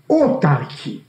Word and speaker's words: autarky: foreign word, a Greek word, which is mostly pronounced in the wrong way, outside of Greece, autarky.